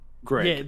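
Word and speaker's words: Grefg: Or was it Greg with a silent F? Oh no. Greg. Yeah, it's spelt Greg, but then between the E and the G at the end, there's just an F stuck in there.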